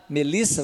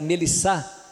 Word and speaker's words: Melissa: então meu nome paulo eles vão falar paulo flávia vai ficar flavya melissa vai ficar mellisa é doce de coco